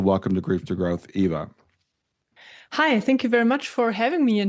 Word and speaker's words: Eva: Is it Eva or Ava? Yeah, in German it's EA, but English in English it's Eva. So that's absolutely fine.